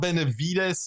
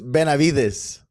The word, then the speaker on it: Benavides: And because I know there's like the slight pronunciation, it's not Benavides, it's like the silent V. How do you pronounce it? It's Benavides. Benavides.